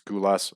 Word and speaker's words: Gulas: So outside of Nick Gulas, and I could be mispronouncing his name, but I'm pretty sure it's Gulas. I got a Greek girlfriend, and I think that's how they pronounce it.